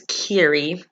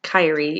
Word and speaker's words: Kyrie: basically in the book her name's kiri not kyrie even though it's spelled